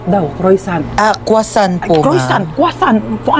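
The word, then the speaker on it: croissant: Croisant daw. Croisant. Ah quasant po.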